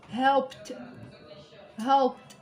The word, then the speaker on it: helped: كي يكون عندنا peu for example helped سيو نطقوها بلا ما تقولوا ت، سيو تنطقوها دي helped. لو كان تماكو هذيك دي تخرج فيها ت. helped.